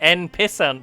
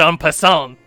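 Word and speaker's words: en passant: you know all about the end pissant move it's pronounced on person and you quickly jab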